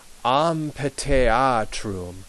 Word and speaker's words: amphitheatrum: So remember, the PH is P and the TH is T. Amphitheatrum. And you might have noticed that a couple of times I have pronounced this E not as in as in bed, but I pronounced it almost like an A, as in amphitheatrum.